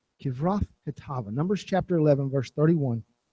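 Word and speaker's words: Kibroth-hattaavah: I even have like the dictionary type pronunciation here so I can try this the right way. It's Kivroth Hatava. Kivroth Hatava.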